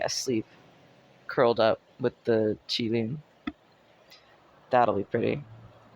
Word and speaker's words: Qilin: Pronounced Qi Lin. Lin. Qi Lin.